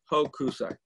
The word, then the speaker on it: Hokusai: Oh, you got to say Hokusai. Yeah. You don't put an accent on any syllable.